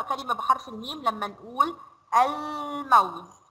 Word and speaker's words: الموز: حرف الميم، تعالوا كده نقرأ كلمة بحرف الميم لما نقول الموز. ينفع أقول أم موز وما انطقش اللام؟ لا ما ينفعش.